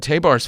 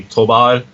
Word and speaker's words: Tabár: it you just said teh bars fine yeah yeah it it's it's a it's a little crazy because the the Hungarian pronunciation is is impossible for anyone so I wouldn't like